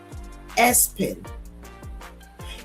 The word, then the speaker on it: ESPN: ESPN pronounced Espen.